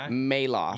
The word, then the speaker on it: Malouf: Maloof or Tony mail off we didn't get to touch that but that's how your last name that's how your last name is pronounced Tony mail aw think so listen it is thanks for making